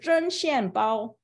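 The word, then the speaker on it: 针线包: But Zhen Xian Bao, it's spelled Z-H-E-N.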